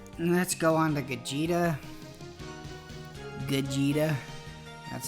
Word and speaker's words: Gogeta: Gogeta. That's how his name's pronounced, by the way.